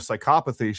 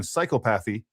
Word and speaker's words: psychopathy: Another one she was saying the other day was, instead of psychopathy, she was saying psychopathy.